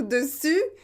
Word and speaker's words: dessus: difficile peut-être pour vous vous devez bien prononcer u et pas où une ou d'ong pourquoi c'est important et pourquoi j'insiste sur ça et bien c'est parce qu'il faut faire la différence entre dessus et dessous dessus dessous donc si